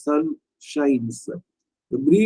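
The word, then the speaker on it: chat: சின்ன க்ளூ மாதிரி வச்சீங்கன்னா சிச் ஏ டி ஷா ன்னு இருக்கு உச்சரிப்பு வந்து ஷா பட் வந்து அந்த எச்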